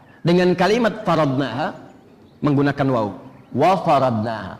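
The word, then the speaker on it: وَفَرَضْنَاهَا: Wa faradnaha, bukan fa faradnaha.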